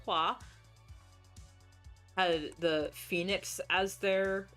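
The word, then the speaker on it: 花: and she was bashing how they said the the Fa family, which was actually pronounced Hua, had the phoenix as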